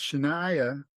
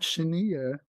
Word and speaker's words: Shania: So pronounce Shaniah like Mariah, not Shenia, although it's cute.